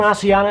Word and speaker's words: Asiana: But having flown Asiana a few times and listening to the cabin